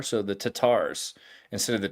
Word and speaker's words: Tatar: the R so the tatars instead of the tartars right so the Tatar means that they're using the more Persian the Persians don't pronounce the r they used an apostrophe